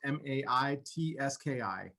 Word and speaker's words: Matesky: It's Maitski.